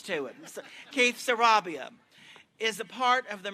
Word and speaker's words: Sarabia: like to acknowledge is Keith sabaria Sarabia excuse me Sarabia thank you for telling